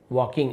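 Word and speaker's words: walking: I started वॉकिंग towards my house, I started मैंने शुरू किया, वॉकिंग चलना, एल साइलेंट है, वॉकिंग ऐसे पढ़ेंगे, टूवर्ड्स की ओर, माई हाउस मेरे घर की ओर मैंने चलना शुरू किया।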